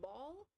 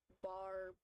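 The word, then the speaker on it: Baul: for a while people were just calling him ball b a u l but it's actually bar b a r why is ball like Dio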